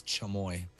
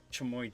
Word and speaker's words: chamoy: how is it pronounced is it tremoy or kamoi i think it's chumoy yeah chamoy juice here we go